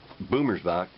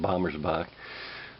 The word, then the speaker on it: Bommersbach: I got a video about the forming of the state of Arizona by an author named Jana Boomersbach. I was pronouncing it Bommersbach, but anyhow, going on.